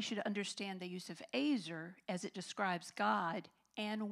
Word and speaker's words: ezer: Actually, in the original Hebrew, the word helper or helpmeet is a word called ezer, and it's spelled E-Z-E-R, but it is it sounds, you pronounce it as ezer.